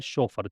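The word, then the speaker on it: chauffeur: शोफर, इसका pronunciation है शोफर, चोफर नहीं है, चै नहीं है, शे है।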